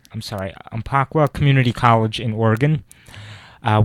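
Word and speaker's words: Umpqua: um I'm sorry I I always have trouble pronouncing it it's uh in umaka I'm sorry aaka Community College in Oregon uh we have some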